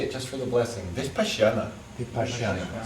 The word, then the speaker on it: Vipassana: Vipassana.